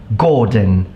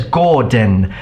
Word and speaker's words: Gordon: becomes a sound but when it's followed by an n and it's found at the end of a word it will become a it sound for example Gordon station conversation I was